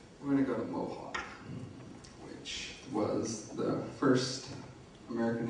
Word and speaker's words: Mohawk: Now, moving away from Cheyenne, we're going to go to Mohawk, which was the first American Indian language I ever encountered, as I said.